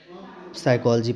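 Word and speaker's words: psychology: ठीक है अब प्रोनंसिएशन पी यहां पर साइलेंट रहेगा साइलेंट पी की बात करते हैं कि कौन सा यहां पर लेटर साइलेंट है तो प अब देखो यहां प अगर बात आती है कि पी एस वा सी एच ओ एल ओ जीवा ठीक है तो क्या हो जाएगा साइकोलॉजी पढ़ेंगे इसको साइकोलॉजी साइकोलॉजी नहीं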